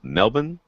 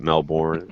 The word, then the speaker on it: Melbourne: jason says that sound air hi-fi in milb melbourne is how they say it there but melbourne is how the rest of us say it